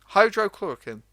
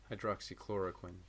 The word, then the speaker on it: hydroxychloroquine: To further what you said, a lot of people are trying to push like hydrochloroquine.